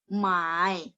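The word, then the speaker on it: 买: Terus 20 mai. Mai-nya nada 3 ya, membeli. Kalau menjual nada 4. Mai nomor 3, teman-teman boleh lihat nadanya berbeda. Beda nada, beda arti ya. Jadi kalau membeli nada 3, mai.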